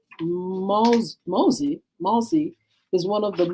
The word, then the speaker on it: Mose: a school that no longer exists Fort Moss pronounced Mosey Mossy is one of the most important more